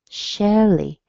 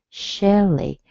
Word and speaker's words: Shelly: Share, the same beginning, and then an L plus a little E. Shelly, Shelly.